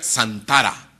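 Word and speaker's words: צנתרה: concordancia Strong, la 6804, que se pronuncia Santara.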